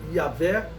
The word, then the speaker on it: Yahvé: Deus, o tetragrama sagrado, a pronúncia Yahvé é uma pronúncia aceitável, né? Que eu considero a mais aceitável, que se traduz por eu sou, ou eu sou o que sou, ok?